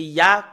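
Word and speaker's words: יה: Voilà le Yod et le He, c'est Ya, comment on le prononce.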